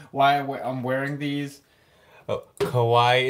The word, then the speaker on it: kawaii: Oh, Kawaii. It's spelled K-A-W-A-I-I, like Hawaii, except instead of an H with a K.